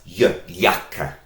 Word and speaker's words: Jacke: So, and in German, that's Jacke. Jacke. You might like to eat sometimes a yogurt, and German has the same word, but it's spelt with this letter, because this is the sound for yogurt.